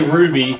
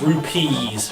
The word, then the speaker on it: rupees: plenty of rubies now i say ruby but it's rupees rupees i'm always pronouncing